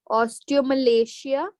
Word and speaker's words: osteomalacia: osteoporosis or ostomia ostale osteomalacia this is how we pronounce it okay Osteo Malia and